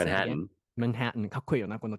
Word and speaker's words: Manhattan: Can you pronounce it again? Manhattan.